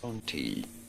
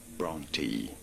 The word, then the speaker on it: Brontë: A pronúncia correta é a seguinte. Brontë, Brontë, Brontë, Vamos fingir que eu vou estar falando desse jeito Brontë.